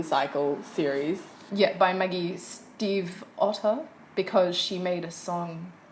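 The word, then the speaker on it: Stiefvater: series yeah by Maggie's Steve Otto because she made a song about it cuz people kept asking how to like pronounce her last name and she was like Steve like the name Otto like like of the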